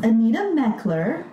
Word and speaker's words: Anita Mechler: Today we have a special guest, Anita Mechler. Am I pronouncing that?